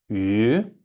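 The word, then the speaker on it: 鱼: Потому что когда сталкиваешься с буквой Ü, он не читается просто. Вот Ü, просто вот этот финал прочитайте и все. Ü, а буква вот Y не читается.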